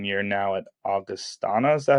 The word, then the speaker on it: Augustana: But Ryan Naumovski, 4 years at Niagara, 1 year now at Augustana. Is that how you say it? Augustana.